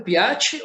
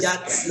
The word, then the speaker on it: Piazzi: E eu pronunciei certo, Piatti ou é Piazzi? Você fala Piazzi ou Piazzi, mas Piazzi.